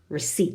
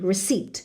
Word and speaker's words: receipt: the what oh the receipt to remember no P receipt receipt no P please P is silent Shh receipt what about